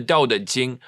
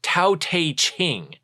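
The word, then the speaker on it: Tao Te Ching: Loza said okay of the daqing sometimes mispronounced taq ching not right knowing others is wisdom knowing the self is enlightenment.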